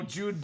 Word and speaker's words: Jude: Oh, Jude Bellingham. Oh, you really butchered that, Dom. I don't know. Not a soccer guy. So, spelled like Kobe. So, I was like Joby.